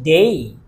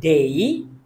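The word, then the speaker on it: day: একটা কথা বলে রাখি কোন শব্দের শেষে যখন আমরা এ ওয়াই পাবো তখন আমরা রসইর মত করে একটু টেনে উচ্চারণ করবো যেমন আমরা আগে বলতাম ডে আমাদের এখন বলতে হবে ডেই আগে বলতাম সে এখন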